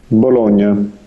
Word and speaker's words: bologna: say well i'll just this is the italian pronunciation of the word bologna okay so i've always